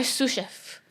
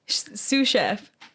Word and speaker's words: sous chef: is it sous chef sous chef like two different words guys chef i'm gonna stop like you're gonna sue somebody and a chef sue steve i'm saying